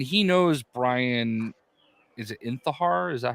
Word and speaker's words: Intihar: Is it Intihar? Is that how you say it? Intihar, yeah.